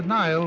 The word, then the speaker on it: Nile: The Nile brings out a poet's smile because it rhymes with crocodile.